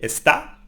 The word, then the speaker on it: está: La tercera the third person is something similar, is él está, or ella está, or usted está, no? So we stress the A here.